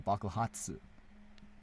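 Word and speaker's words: 爆発: Bakuhatsu. There you go. Did I say it right? Oh, Bakuhatsu. Like, very fast.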